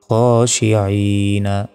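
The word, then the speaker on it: الخاشعين: আই, নুন জবর না, খাশিঈনা। থামলে এখানে 3 সেকেন্ড টান হবে। খাশিঈন। যেখানে থামবো সেই শেষ করে সাকিন দিয়ে উচ্চারণ করতে হবে, মানে নুন অক্ষর উপর সাকিন দিয়ে উচ্চারণটা করতে হবে।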